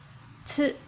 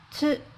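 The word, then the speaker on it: つ: Next letter is Tu. Tu. Tu. When you read this letter, take a note. First, the tongue must touch upper jaw, compressed a bit slightly, then say it Tu. Tu.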